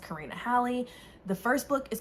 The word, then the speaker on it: Karina Halle: karina halley i figured out her name is pronounced karina halley the first book is called um darkhouse and